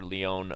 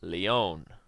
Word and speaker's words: Leon: his game against Grandmaster Leone Mons Leone um Leon if you're into that if you're into correct pronunciations it's Leon Yan Solomon still playing